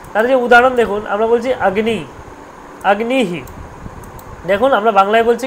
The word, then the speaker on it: অগ্নি: লতা হয়ে গেল তাদের উদাহরণ দেখুন আমরা বলছি আগ্নি আগ্নিহি দেখুন আমরা বাংলায় বলছি কি অগ্নি অগ্নি বলি আমরা আরে অগ্নিটা জ্বালিয়ে দে অগ্নি প্রজ্জবলন কর এরকম বলি অগ্নি তো নয় আসলে ব্যাপারটা হচ্ছে আগ্নি আগ্নি এটাকে বাংলা কি হচ্ছে অগ এরকম হচ্ছে